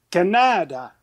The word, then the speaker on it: Canada: disent Canada alors que l'accent tonique en langue W dat d'où vient le nom de notre pays et toujours l'avant-dernière syllabe alors Canada tu es le seul